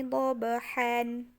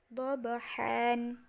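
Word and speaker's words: ضبحا: Contohnya tertulisnya adalah wal adiyati dobahan. Dobahan itu tertulisnya, tetapi ketika kita baca tanwannya atau nunnya kita hilangkan menjadi wal adiyati dobaha. Dobaha. Jadi bukan lagi dobahan, tapi jadinya dobaha.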